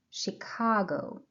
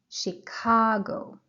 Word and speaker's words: Chicago: Please pay attention to the stressed syllable. Chicago. The stress is on the second syllable. به stress به بخشی که stress داره توجه کنید. بخش دوم. Chicago. Please repeat after me a few times. Chicago. Chicago. The pronunciation of CH at the beginning of the word, it's sh, sh, Chicago.